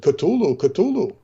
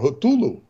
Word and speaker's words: Cthulhu: and why the uh the Iraqi soldiers said patulu Cthulhu yes which is actually not the way to pronounce it it's more hotulu yes uh it is Lovecraft went on to